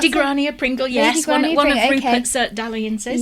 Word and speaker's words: Grania Pringle: Is that how you would pronounce Lady it? Grania Pringle, yes.